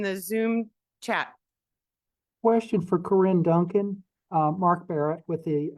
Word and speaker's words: Corinne: And just one thing with Corinne, the spelling of her name is Corinne Duncan, and it's pronounced Corinne.